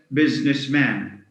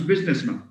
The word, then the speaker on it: businessman: Now man alone is pronounced man, but when it combines with business, we don't get businessman. There's a common mispronunciation. It becomes businessman with a schwa.